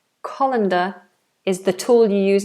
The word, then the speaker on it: colander: and a CO calendar Co co co C colander is the tool you use in the kitchen